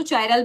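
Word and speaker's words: chiral: English वाले इसको चायरल भी बोल सकते हैं। कायरल भी बोल सकते हैं।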